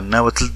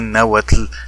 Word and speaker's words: náhuatl: que van a hacerlo, deberán pronunciarlo así, náhuatl, náhuatl, como lo estoy haciendo yo, y no como lo están haciendo los miles de nahuatlactos naturales que dicen náhuatl.